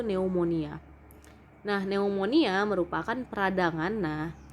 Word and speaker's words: pneumonia: grup e di depan jadi jangan bacanya pneumonia v-nya diabaikan jadi bacanya itu pneumonia nah pneumonia merupakan peradangan